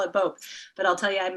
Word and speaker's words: Bopp: Did I pronounce that right? Nope. It's Boop. It's not even that. Bopp.